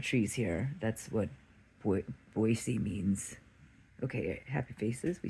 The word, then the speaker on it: Boise: if I was there I'm in boisey instead of boys I love that I know how to pronounce that now and uh